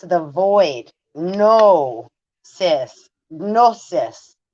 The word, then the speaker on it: gnosis: right it's the void no cis gnosis g n o s i s the g is silent like in gnome go home um so